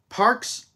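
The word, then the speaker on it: Parx: look at something from Parks racing by the way that's spelled p a r x well the name of the track is spelled like that so anyways there was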